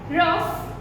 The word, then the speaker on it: rough: In these words, the word GH is given, letter GH is given. But though the sound of the letter GH is over here, we pronounce it as F.